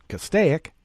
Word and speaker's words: Castaic: that was in cas castaic that's how we pronounce it castaic and at various locations in fresno county in